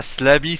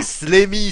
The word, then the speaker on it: Slammy: vous le mettez avant d'abord c'est pas Slami c'est pas salami hein on a pas l'impression de parler des jambons c'est slemi c'est pas Slami oui bon je prononce à